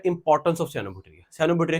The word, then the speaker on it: cyanobacteria: ये साइनोबैक्टीरिया word है इसकी प्रोनाउंसिएशन है साइनोबैक्टीरिया। ये जो वर्ड है, ये जो ये सयान है, दैट इज सयान कलर, दिस इज सायन सयान। जब इसको सयानों में पढ़ेंगे उसको बोलेंगे साइनोबैक्टीरिया।